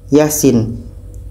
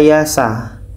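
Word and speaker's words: يس: Yasin huruf Fawa hasuar harus dibaca satu-satu tidak boleh kita baca Yasa Yasa Kenapa dibaca Yasin karena fawatihusar huruf pembuka surah harus dibaca sesuai dengan ejaannya ejaannya sepertim mana yang kita baca biasanya yaitunya dengan yaasin yaas ya ini kita panjangkan dua harakat di sini sebetulnya ada Alif kecil tapi tidak dinampakkan ya ini panjang dua harakat sedangkan Sin enam harakat dan di sini tidak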